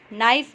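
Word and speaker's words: knife: में W silent है, नाइफ में के साइलेंट है, लिसन में टी साइलेंट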